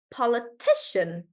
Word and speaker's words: politician: so po Shan and because it sounds like Shan we'll stress on T do you remember that rule whenever there's Shan we do the one right before that tumari yeah so because there's Shan we'll do the one right before that and we'll say politician politician like that so let's see how